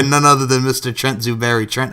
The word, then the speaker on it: Zuberi: You know, they go Zuberi or Zoberi. I've heard that. I'm like, there's no O there.